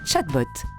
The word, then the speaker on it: chatbot: chatbot un quoi un chatbot qu'est-ce que c'est déjà ça se prononce chatbot c'est la contraction de